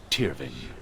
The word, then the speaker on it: Tyrving: above all, the sword, Tyrving. Wow, the cursed sword. And the F is pronounced V.